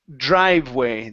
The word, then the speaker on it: driveway: Right here we have the word driveway. The E is silent here. Driveway.